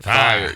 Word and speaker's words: fye: But you don't spell it fire. You don't spell it fire. You just say fi, like that's fi, but you can't say fi. That's like pie with an F.